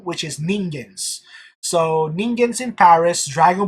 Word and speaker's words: Ningens: It's Ningens, as in the Japanese word for mortal, which is Ningens.